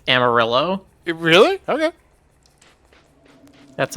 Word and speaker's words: Amarillo: Wait, do you pronounce it Amarillo, not Amarillo? Yes. The color is Amarillo. The city is Amarillo.